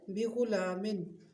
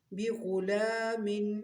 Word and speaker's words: بغلام: اگلا لفظ ہے بغلام، بغلام حلیم، بغلام کے ہجے کرتے ہیں پہلے، با زیر بی، غین پیش غو، بغو، لام کھڑی زبر لا، بغلا، میم دو زیر من، بغلام، حا زبر